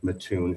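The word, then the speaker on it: Mattoon: be also done like matun Illinois matun Illinois just recently changed theirs and theirs was not that's matune sir I believe the correct pronunciation is matun I appreciate that thank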